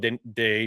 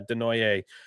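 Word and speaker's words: Desnoyers: Bruins staff has been back and watching Caleb Deoy do. That's how you pronounce it. Yeah, Denoy.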